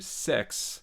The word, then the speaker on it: CEX: So in contrast, going on eBay or going to Sex, that is the name of the store, by the way. It's sex with a C. CEX. Yeah, CEX.